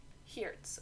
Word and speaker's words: Hayertz: Moving on, in 1977, Mike Hayertz, or at least I believe that's how you pronounce that name, Hayertz. Hertz. Hertz, okay.